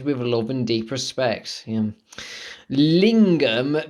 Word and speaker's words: lingam: love and deep respect lingam pronounced lingarm lingarm is the sanskrit word